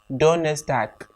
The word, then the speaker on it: Donnerstag: Thursday, Donnerstag. Take note of my pronunciation. It's spelled with a G at the end, but I'm pronouncing it as Tag.